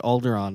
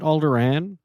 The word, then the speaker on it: Alderaan: to be talking about alderon uh and I pronounce it alderon but some people out there pronounce it alderan yeah and not me I and and so